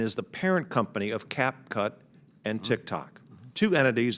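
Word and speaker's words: CapCut: we should ban a tick tock and and cap Jack in I should pronounce it right I guess cap cut in the United States it's clear to me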